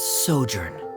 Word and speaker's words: sojourn: is everything clear directors osimos how do you pronounce this word let me see Ah that's sojourn it means to stay for a while this